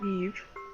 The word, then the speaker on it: Ib: Hello and welcome to Ib, or Eve, due to it being a Japanese pronunciation.